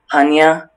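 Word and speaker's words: punya: Panya?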